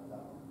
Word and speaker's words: Babel: It's pronounced Babel.